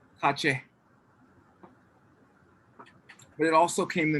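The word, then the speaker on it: ཁ་ཆེ: How do you say Kashmir in Tibetan? Kashmir. Nope. Kache.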